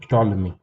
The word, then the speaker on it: Ptolemy: So Ptolemy, this is how you pronounce it, Ptolemy.